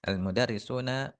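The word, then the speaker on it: الْمُدَرِّسُونَ: dia jamak Muzakar Salim cara bacanya almudarisuna berkedudukan sebagai fa'il di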